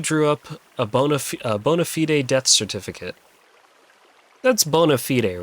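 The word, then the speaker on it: bona fide: Bday rhymes with fried. Fried. I Well, cuz there's there's bonafide, right?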